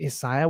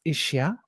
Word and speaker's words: Isaiah: Old Testament which is Isaiah we call him Isaiah which is actually pronounced isia and isia was um predicted in the old